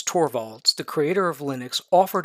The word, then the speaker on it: Torvalds: And his last name is evidently pronounced Torvalds.